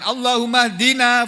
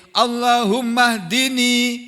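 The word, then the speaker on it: اللهم اهدني: Jadi kita bacanya bukan Allahummaina fiman hadait bukan gitu tapi Allahummahdini fiman hadit waafini fimanit wa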